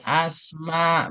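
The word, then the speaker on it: أسماء: Isim bahasa Indonesia ini asma bahasa Arab. Kenapa asma bukan isim? Karena ada alif nih ya.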